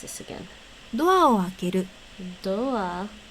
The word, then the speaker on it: ドア: No, it's actually pronounced more like doa.